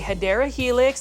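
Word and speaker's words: Hedera helix: plant fold these $20.98 it's another HRA helix or what you call a hadera helix that's the correct way to say it but I'm going to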